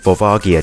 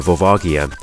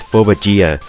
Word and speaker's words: Volvagia: was both you know volvagia but he said you know he pronounced it as phobojira so and then he